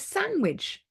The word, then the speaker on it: sandwich: the next one is sandwich yeah so sandwich we don't pronounce the d in the middle we don't say sandwich